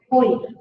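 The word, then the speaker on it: होइ: फिर मंगलाणम च सवेसे परमम होहि मंगलम, हवाई नहीं है, क्या है, होई। हवाई करोगे तो क्या होगा, एक अक्षर ज्यादा हो जाएगा।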